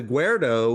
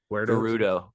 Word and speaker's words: Gerudo: But the guardo gu I saying it right. Gerudo.